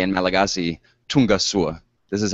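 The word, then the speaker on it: Tonga soa: And so now let me officially welcome you and also say in Malagasy, Tungasua. This is how you say welcome in Malagasy. Tungasua.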